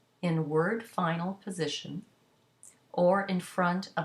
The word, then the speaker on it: fin: So for example, if you have the adjective fin, you have F-I-N, the N is not pronounced because it's in word final position, but the I in front of it becomes nasal into the sound fin.